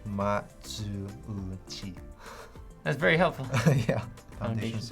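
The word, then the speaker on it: Matsuuchi: His last name is pronounced like Ma-zu-u-chi.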